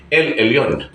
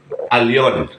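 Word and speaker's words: עליון: ng firm nilagay niya lon so itatama natin hindi lon alon Okay bakit alon Bakit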